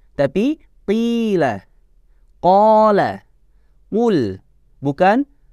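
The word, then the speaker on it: قال: Qala, qul, bukan kala, pakai nafas, tapi nafasnya ditahan di dalam. Qala, qul.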